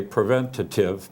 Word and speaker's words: preventive: that prevent preventive uh some people say preventative but that's the old English pronunciation but preventive I guess is what most people use now um I I